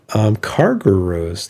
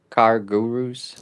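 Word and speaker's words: CarGurus: Car Gurus. Car Gurus, yes. You kind of say it in one word. Car Car Gurus. Car Gurus. Car It's Guru, Gurus. like mini minions. It's 2 words, man.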